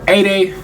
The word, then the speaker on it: Aday: at uh that boy a day. That's how you say his name. A day a day Mara.